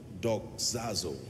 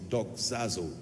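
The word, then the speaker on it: δοξάζω: teaching tonight on a subject that I title dog zazo I want to teach you how the Saints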